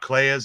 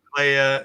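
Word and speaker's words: Kleya: honest like right not claya's age in between Playa and yeah you're the one that rhymes with Leia like so yeah it'd be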